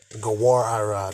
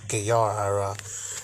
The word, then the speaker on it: Gawar Ira: So Salakia, it's actually pronounced Gawar. Gawar Ira, not Gayar Ira.